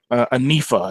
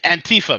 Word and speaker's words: Antifa: Anifa, I think is how you say it. Antifa, man. Antifa, Anifa. Not Anifa.